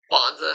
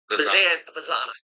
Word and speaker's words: Bazana: But Bonza, how do you say it? Bazana. Yes, sorry. Travis Bazana.